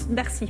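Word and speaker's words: Darcis: On dit Darcy ou Darcy? Darcy. Alors là, on prononce pas le S.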